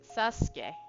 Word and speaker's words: Sasuke: Um, like Sasuke, okay? No, you don't really say the U in that one.